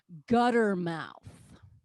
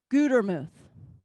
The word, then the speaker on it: Gutermuth: and they will say gutter mouth really all right that's annoying it really makes me mad they can't even pronounce a simple word come on right one t makes a long u gutermuth i don't know i